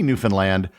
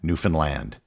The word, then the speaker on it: Newfoundland: The key was the simple rhyme, understand Newfoundland. It is not pronounced as it would be in the rhyme, unfund Newfoundland.